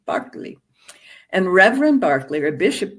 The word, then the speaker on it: Berkeley: England, an Anglican bishop whose name is pronounced George Barkley, if you're British, not Berkeley, Barkley.